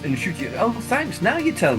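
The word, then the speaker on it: Ncuti: It's Nchuti, apparently. I saw that thing where he said his mother was telling me, it's pronounced Nchuti.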